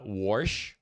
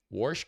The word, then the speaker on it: Warsh: So, we have um we have uh Warsh. Warsh, Kevin Warsh, I believe is how you pronounce his name.